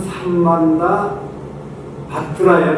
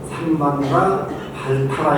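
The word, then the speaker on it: Samantabhadra: 인도 말로는 삼만다 바트라예요, 바트라. 근데 그것을 발음하기 쉽지가 않죠. 중국 사람들이 삼만다 바트라를 삼만다 발타라 이렇게 소리 번역을 해요.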